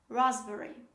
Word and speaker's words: raspberry: me raspberry dancer raspberry the pronunciation of this word is raspberry raspberry the last example